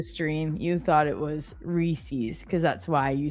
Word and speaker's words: Reese's: Go vote for Reese's. It's reset. grinding rhyming with peace or geese.